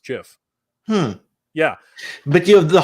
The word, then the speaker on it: GIF: did you know that the actual creator of the format says it's supposed to be pronounced Jif yeah but you have